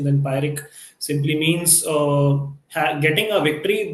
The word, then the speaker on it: Pyrrhic: So this is the pronunciation. Then Pyrrhic simply means getting a victory, but which a victory which comes at a very huge cost.